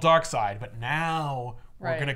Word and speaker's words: Darkseid: The company-wide email, hey, everybody, all creators, all people who work at DC, remember that S-E-I-D will spell seed for the next foreseeable future.